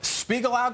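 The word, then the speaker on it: Spiegelau: a craft beer afficionado and vice president of Spiegel out Glass Works and I pronounce that correct correct Matt the the the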